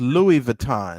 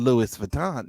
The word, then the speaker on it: Louis Vuitton: like and and then and the word is louis vuitton not louis vuitton uh you know she just